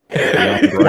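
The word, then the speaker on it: Giambrone: say this guy's last name, but it's Sean Giambroni. He's the kid off the Goldbergs. Did you say jabroni? Giambroni.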